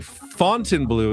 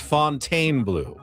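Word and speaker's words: Fontainebleau: He's saying Fontine Blue is pronounced Fontaine Blue. Please make sure to always say Fontaine Blue.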